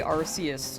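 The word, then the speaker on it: Arceus: It's pronounced Archus. Oh, yeah. Yeah. Like I think canonically it's Archus. I They used to say Arus.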